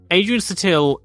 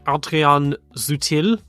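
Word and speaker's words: Adrian Sutil: Andy suck Cliffe um Adrian satil in German it's going to be more like Adrian zuil or Adrian zuil something more more like that in German Len Sutton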